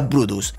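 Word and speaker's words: Bryde: dominante de ambas especies si bien su nombre se escribe brides se pronuncia bruce y lleva el nombre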